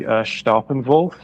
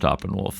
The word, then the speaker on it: Staeppanwulf: Do you prefer Staeppanwulf or Staeppanwulf? Either way is fine by me. The correct pronunciation would be Staeppanwulf because it's derived from an Old English prefix.